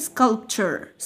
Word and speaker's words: sculpture: طيب تمثال sculpture sculpture sculpture. لو عايز تنطقها نطق فعلا صحيح تخفف قوي قوي ال في النطق.